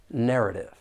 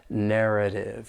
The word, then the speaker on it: narrative: bullish narrative for prononciation there are three syllables and the stress is on that first syllable narrative now when you hear